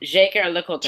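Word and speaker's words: Jaeger-LeCoultre: Without a bullshit French accent, there is just a Jaeger LeCoultre. Jaeger, the J. Jaeger LeCoultre. Jaeger LeCoultre. That's all it is.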